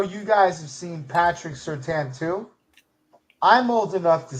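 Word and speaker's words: Surtain: We were calling him Patrick Certain. We didn't learn that it was Certan and you're not supposed to pronounce the I in his name until like the last two years of his career.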